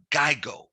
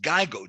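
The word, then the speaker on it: GIGO: the acronym g-i-g-o g-i-g-o stands for geigo or it's just pronounced geigo g-i-g-i-g-i-g-o now what does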